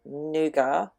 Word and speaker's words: nougat: Because I live in Australia and we generally follow the English pronunciation of things, we actually say nougat, not nougat.